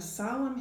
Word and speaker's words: solemn: N is for naughty children who will sing a solemn hymn when autumn comes to an end. Some silent N's there.